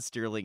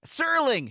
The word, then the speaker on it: Serling: So, rather than continue my Rod Sterling impression, Serling, shoot, I keep saying that. The T is silent because there is none.